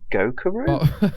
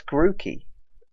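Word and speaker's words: Grookey: little one is that his name goku that's definitely how you say it no it's greeky this was bubbly flopped well you were actually quite close with the monkey was i yes grooky mate that was completely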